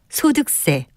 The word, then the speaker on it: 소득세: 하지만 이와는 달리 세금을 뜻하는 한자 세납 세자를 쓰는 소득세, 등록세, 취득세는 마지막 음절을 세라고 된소리로 발음합니다.